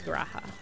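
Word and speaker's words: G'raha: name is raha but they pronounce the g so he is graha fun trivia because i'm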